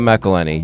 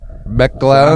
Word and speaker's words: McElhenney: And I think just like, could you imagine being at a party and you see Rob McElhenney, you've had a few too many martinis, and you just want, excuse me, Mr.